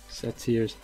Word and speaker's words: satyrs: Satyrs.